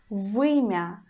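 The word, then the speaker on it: вымя: you, and the word vymya, vymya, vymya. You hear I pronounce consonant letter v as a hard one, because after it we've got one sound letter u.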